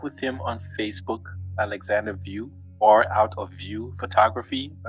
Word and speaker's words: Wiuff: Connect with him on Facebook, Alexander View, or Out of View Photography. That's actually very creative. Yeah. It's spelled View like your name, like Out of View Photography.